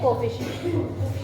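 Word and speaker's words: coefficient: होता है, numerical factor, उसको हम कहते हैं कोएफिशिएंट।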